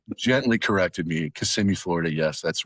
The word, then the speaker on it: Kissimmee: And I incorrectly pronounced it as everyone else ever did. Oh, Kissimmee. So Yeah. like gently corrected me. Kissimmee, Florida.